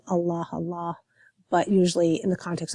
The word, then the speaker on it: Allah: I pronounced it very formally, because it's capitalized, so a formal, proper noun. So I said Allah, but usually in the